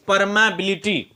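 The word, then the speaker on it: permeability: आप इसको पढ़ने का थोड़ा सा उच्चारण समझिए। क्या पहले क्या बोलेंगे? मैग्नेटिक। क्या बोलेंगे? मैग्नेटिक पर तो परमबिलिटी। परमबिलिटी। ठीक है ना? मैग्नेटिक परमबिलिटी। थोड़ा सा उच्चारण इसको ढंग से करना चाहिए क्योंकि इसका उच्चारण थोड़ा अल्टर होता है।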